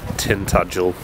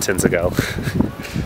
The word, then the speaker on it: Tintagel: so I figured that I'll just pronounce the town it's Tintagel not tend to go so we got here